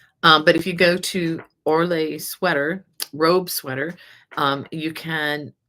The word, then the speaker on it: Orlaith: This is called the Orlait. Orlaith is how it's spelled.